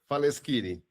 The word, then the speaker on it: Faleskini: And today, I am so blessed to be joined by Faleskini. Is that how you say it? Almost Faleskini.